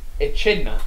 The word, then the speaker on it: echidna: Echidna.